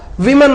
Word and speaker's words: women: a home and women அது wன்னா விமன் உச்சரிக்கணும் விமன் விமன் இது வுமன் அண்ட் வுமன்